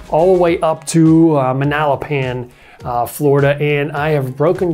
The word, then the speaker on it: Manalapan: pin at the end in the spelling it's manalapan and the way they got that name was